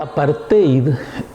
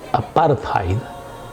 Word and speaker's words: apartheid: e apartheid o apartheid cómo se pronuncia en el idioma afrikaans significa separación con esa